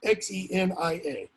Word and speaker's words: xenia: it's pronounced something like xenia cinea it's spelled x-e-n-i-a modern english it would be pronounced xenia like xenophobe okay someone who's afraid